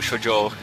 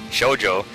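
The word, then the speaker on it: shōjo: Anyways, the girl who left through space, aka Sorawo Kakaru Shoujo, sorry, emphasis on the wrong syllable there, Shoujo, has pretty much left me behind in space dust.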